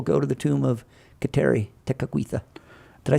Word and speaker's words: Kateri Tekakwitha: that they can't say Kateri Tekakwitha, but. It always sounds like I'm saying "take it with you" when I try to say her name.